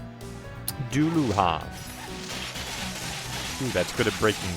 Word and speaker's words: Dullahan: Is pronounced Deluha. Why, you son of a... Duluhan.